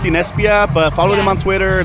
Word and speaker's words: Cinespia: organized yeah which is awesome you know it's pronounced cinespia but follow them on twitter they have a